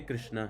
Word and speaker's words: Krishna: chant okay all the syllables should be clearly audible like hur krishna hur Hurry Krishna Krishna Krishna Hurry Ham Ham Ram H like Hrishna Hrish Krishna Krishna Hrishn don't do that okay okay every syllable